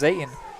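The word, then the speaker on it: Zetan: their quarterback zayton Zaden spells z-e-t-a-n pronounced Zayn and then I gotta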